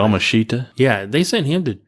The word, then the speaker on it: Yamashita: Yamashita?